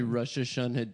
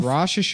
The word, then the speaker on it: Rosh Hashanah: was about to be Rosh Hashanah dinner with my parents. Rosh Hashanah. Why do you have to say it like that?